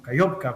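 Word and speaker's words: Kakhovka: En el caso específico de esta planta, de la represa de Nova Kajovka, ¿verdad? No, Kayovka, como también se le pronuncia algunas veces.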